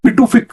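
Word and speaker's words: Pituffik: और इसमें एक यूएस पिटूफिक जिसको बोलते हैं या यूएस टूफिक भी बोलते हैं। इसको इसका प्रोनाउंसिएशन दो तरह से डिफरेंट किया जाता है।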